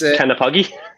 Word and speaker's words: Knappogue: And it's Knappogue.